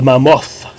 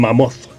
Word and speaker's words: Mammoth: Dimitri Shimachev pour le Mammoth. Faut vraiment prononcer le H, hein? Le Mammoth. Le Mammoth.